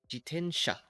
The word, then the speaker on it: jitensha: It's not G. It's G jiten jitensha. Jitensha. Basically, that's how we say it.